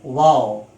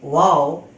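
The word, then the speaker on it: waw: this shape without any technical mark is called wow its pronunciation in english is w a w wow it is also a light letter so it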